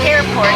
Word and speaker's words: Hairport: My business is called Hairport. It rhymes with airport, right?